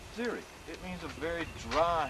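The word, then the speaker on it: xeric: i c x e r i c that's pronounced Ziri it means a very dry habitat and that's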